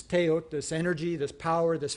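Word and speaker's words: teotl: is this notion of teot, right? The L doesn't get pronounced when it's at the end of a word.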